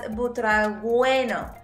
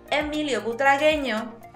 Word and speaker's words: Butragueño: I've heard this pronounced as Butragueño, but the U is silent. Emilio Butragueño.